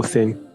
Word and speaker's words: Hussein: Husseini or Hussein? Hussein. Hussein. Should I spell it?